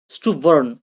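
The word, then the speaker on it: stubborn: স্ট্রবার্ন বা স্টুবার্ন, এর সঠিক উচ্চারণ কি হবে? স্টুবার্ন।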